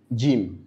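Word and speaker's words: جيم: En français on dit J mais plutôt on ditim. Jim.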